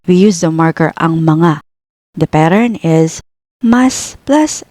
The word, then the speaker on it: mga: use the marker ang mga. The pattern is mas plus adjective plus ang mga plus things. A quick tip on mga, it is pronounced like ma nga.